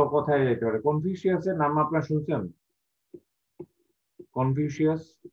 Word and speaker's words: কনফুসিয়াস: আমরা বাংলাদেশে এটাকে কিভাবে উচ্চারণ করি, কনফিউশিয়াস না কনফুসিয়াস? আমরা যেটা কনফিউশিয়াস স্যার শাস হবে সেটা।